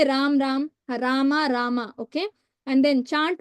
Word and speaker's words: Rama: Hare Krishna, Krishna Krishna, Hare Hare, Hare Rama, Rama Rama, Hare Hare. Don't say Ram Ram, Rama Rama.